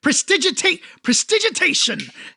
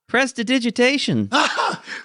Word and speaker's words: prestidigitation: That's not how you say it, Aster. So close. That's not? No. no, No, that's really? not how you say it. Prestigitate? No? Prestidigitation. Why? it hurts so much.